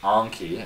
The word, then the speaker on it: Anki: which by the way if you don't know how to pronounce it it is anki it comes from the